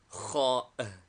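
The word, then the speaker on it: خاء: Name, Kha. Equivalent, KH. Like CH in Welsh or Gaelic, or the German CH as pronounced in Switzerland.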